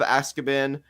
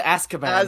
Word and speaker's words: Azkaban: It's as. Okay. As. Azkaban. Okay, Azkaban.